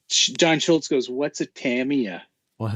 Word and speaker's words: Tamiya: fun what's a john schultz goes what's a tamia well it's a damn it's how it's pronounced for realsies yeah when we had we